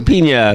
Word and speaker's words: Pina: And Pina. That's how you say it.